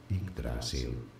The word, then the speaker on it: Yggdrasil: Pronounce. Languages, it is said as Yggdrasil.